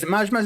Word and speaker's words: Maj Maj: Is it Maj Maj as it's pronounced, Jamie? Yes, indeed.